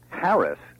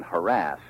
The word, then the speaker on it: harass: Live and Let Live because Harris stress on the first syllable is older but not a whole lot older than harass both have have existed